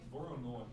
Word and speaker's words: Voronoi: Voronoi, that's how you say it.